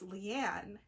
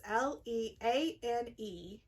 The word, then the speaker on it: Leane: And Loyal was one of those, and the other one was Leanne, who is the keeper, the one who bangs the staff. Oh. Her name is Leane, and apparently it's supposed